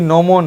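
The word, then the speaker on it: gnomon: जी नोमोन है, तो जी साइलेंट हो जाएगा, नोमोन हो जाएगा।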